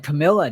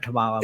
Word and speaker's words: Kamala: And Biden and Camilla don't even like each other either. Oh, Kamala Harris. Yeah, I don't even know how you say her name anymore. I should have said Kamala, but yes.